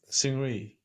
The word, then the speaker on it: Seungri: But Seungri, do you guys want to do like a?